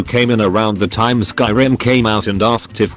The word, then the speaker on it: Skyrim: laughed condescendingly and said no I mean scrim thinking he was just mistaken I was like oh no it's called Skyrim no it's not it's pronounced scrim at that point I